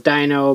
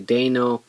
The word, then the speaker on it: Deino: So everyone thought it was Dino, but it's actually Deino, so we'll go with that.